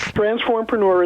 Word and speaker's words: transformpreneur: hard one to pronounce transformpreneur is the word transform coupled with the second half of entrepreneur because the idea is